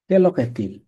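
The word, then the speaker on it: Quelle heure est-il: কেল কেল অহ এ কেলক এতিল এটার উচ্চারণ হচ্ছে কেলক এতিল এখন কয়টা বেজেছে কেক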